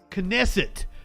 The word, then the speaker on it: Knesset: Knesset. Thank you, Richard. Knesset. Thank you for the phonetical pronunciation.